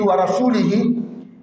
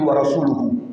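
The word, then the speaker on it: وَرَسُولُهُ: Si tu dis wa rasulihi, tu as fait un mauvais sens. Allah a désavoué les polythéistes. Son messager également les a désavoués. Quand tu dis wa rasuluhu, la bonne prononciation.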